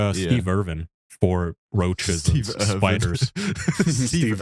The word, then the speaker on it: Irwin: to Steve Irvin's Animal Exploration Show. Today we are looking at the badges. Wasn't it Steve Irvin? Steve What was his name? Irwin. Win. You just it's how you pronounce W's.